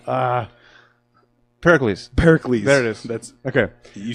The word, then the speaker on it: Pericles: ] can't we get that name ah Pericles Pericles eros that's okay you said it right when